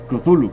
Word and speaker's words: Cthulhu: hecho de ser humanos no tenemos la posición fonética necesaria para pronunciar esta palabra kuzulu Según yo es la forma más cercana a lo que se asemeja del sonido que hacían las especies que lo veneran especies que son más